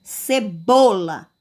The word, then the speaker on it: cebola: Então, a sílaba tônica da palavra cebola é bo.